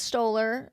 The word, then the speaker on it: Stoller: It's directed by Nicholas Stoller. I believe that's how it's pronounced.